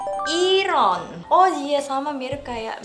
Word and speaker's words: Yiren: Itu ada Yiren. Jadi seringnya dipanggil Yiren karena tulisannya Y-I-R-E-N. Orang Korea nyebutnya bukan Yiren, tapi Iron.